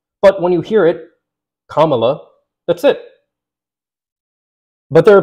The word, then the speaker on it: Kamala: comma Harris one of them is like purposely mispronouncing her name and I completely understand I thought it was Kamala at first you know I think many people would but when you hear it Kamala that's it but there are people who still